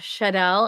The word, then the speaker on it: Chanel: So this is Chanel. Did I say that right? You did, Chanel.